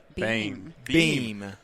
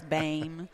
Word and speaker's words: Boehm: And it's Beam. Beam. And okay. my family alone pronounces it 11 different ways. Really? Is that right? So if you go to one side of the family, it's Bame. Yep. Boom. I answer to pretty much anything.